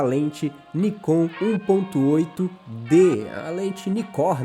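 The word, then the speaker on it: Nikkor: Nikon 1.8 de leite nicor na verdade né que é como ela é pronunciada e hoje eu vou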